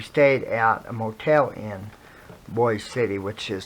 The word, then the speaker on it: Boise City: We stayed at a motel in Boise City, which is spelled Boise, but it's pronounced Boise City, and so I had been there on that trip, but it was so much.